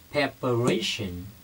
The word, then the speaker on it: preparation: chuẩn bị là các bạn để ý về phát âm của nó nhé một cái là PR một cái là preparation preparation như vậy chúng ta có Again PR